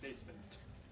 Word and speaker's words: basement: No, the T is pronounced. Yeah, we don't say basement, we say basement.